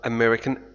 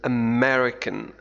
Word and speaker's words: American: لاحظ طريقة نطق American. American. هناك شد على M.